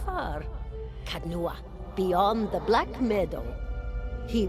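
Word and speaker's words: Caed Nua: Kadnua, beyond the Black Meadow. He will welcome the company. Cadnua. Alright. Definitely wouldn't have pronounced that cad, so thank you.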